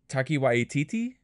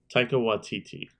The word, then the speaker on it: Taika Waititi: Taiki Waititi? Is that how you pronounce his name?